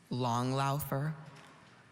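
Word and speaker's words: langlaufer: i have the definition please a cross-country skier long laugher long laugher can you say it again long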